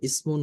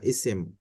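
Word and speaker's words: اسم: বলা হয়, এগুলোই আরবিতে ইসমুন বলা হয় তাকে, বা ইসেম। আমরা তানবিন বাদ দিয়ে অনেক সময় উচ্চারণ করি সংক্ষেপে ইসেম।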